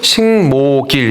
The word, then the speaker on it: 식목일: 발음은 식목길 이렇게 발음합니다.